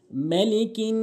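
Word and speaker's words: مَلِكِ: হবে এরপরে দ্বিতীয় নাম্বার মালিকিন অনেকেই ভুল করে বলে মা টেনে বলে টেনে বলা যাবে না মিম আলিফ মিম জবর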